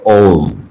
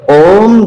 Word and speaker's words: ओम: उच्चारण करते हैं तो यह ओम कंठ से अकार का उच्चारण होता है, और ऊ होकर के म में जाकर के म जो है ओष्ठ वर्ण है, बंद हो जाता है। ओम आ से खुलता है, म में बंद होता है, ऊ में ऊपर उठता है।